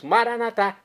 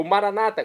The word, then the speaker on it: Maranata: E agora eu clamo do aramaico, dialeto de Jesus, Maranatá, como dizemos nós católicos, ou Maranata, como dizem nossos irmãos separados, os evangélicos ou protestantes, não importa a pronúncia, o significado é o mesmo.